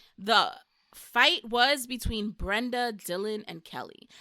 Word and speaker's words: Dylan: Yeah, Dylan. I wanted to name my son Dylan, but my ex told me that people would think it's pronounced Dylon, like the rapper.